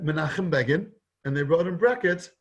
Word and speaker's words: Begin: and they said menachem began and they wrote in brackets rhymes with fagin fagan is the guy